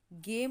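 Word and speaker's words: game: गेम हो गया हमारा, गेम, तो इसमें भी हमारा ई साइलेंट है, गेम, ठीक है।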